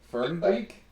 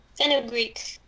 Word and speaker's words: fenugreek: Fern Greek? Pharaoh Greek. How do I pronounce that, Mary? Fenugreek.